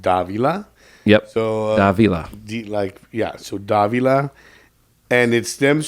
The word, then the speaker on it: Davila: So the name is pronounced Davila. Yep. So Davila.